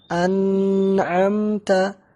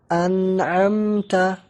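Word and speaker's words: أنعمت: membacanya tanpa tambahan diagonal Jadi bukan anak MTA tapi an'amta tidak ada tambahan di dengung pohon ah ah Fadli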